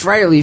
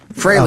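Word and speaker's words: Frehley: 30 years German fry I always spell it wrong but it's fry freely admits that fry is the proper pronunciation it it is freyy yeah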